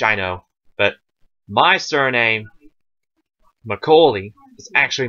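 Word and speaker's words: Macaulay: l a y now we pronounce my my family and I and quite a few others that we know pronounce it as mcoi as if it just had was either a straight l y or an l e y now know the fact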